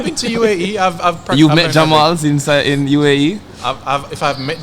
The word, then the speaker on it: Jamal: Even the H in my name is just the accent is slightly different, like Jamal.